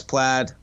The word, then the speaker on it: Plaid: of the higher performance is it plaid played versions how do you pronounce that yeah so the played ones are plaid I better get that